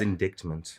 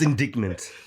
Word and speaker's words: indictment: It's indictment.